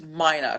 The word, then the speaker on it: Mina: Is it's pronounced Mina? Correct. Like China but with an M.